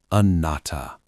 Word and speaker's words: Anatta: Anatta. Non-self. No permanent identity. Pronounced a-NAT-ta.